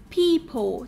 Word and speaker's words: people: Ví dụ như là trong từ people thì là gì? Chữ EO ở đây cũng được phát âm là E, people.